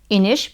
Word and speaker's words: Inish: Her name is pronounced right like Inish because she's Portuguese, and it's pronounced this way.